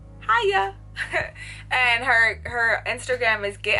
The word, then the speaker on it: Haiya: Like, the way you pronounce her name also is Haiya.